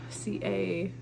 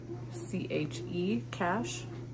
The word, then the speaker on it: Cache: This one's the, is it Cash? C-A-C-H-E, Cash, I believe is how that's pronounced, not Cache.